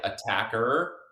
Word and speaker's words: Attaquer: should be pronounced but us being Australians we generally say attacker kind of Americanized or canadianized that a little bit I